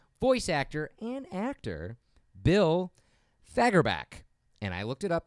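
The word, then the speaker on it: Fagerbakke: Thursday October 4th voice actor and actor bill fagor back and I looked it up the tight pronouncing you pray is gonna be 61 on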